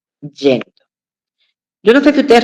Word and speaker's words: yendo: La gente por lo general dice, "Y yendo, ya me estoy yendo para mi casa." Y construye mal, pronuncia mal ese gerundio del verbo ir. Lo correcto es decir yendo.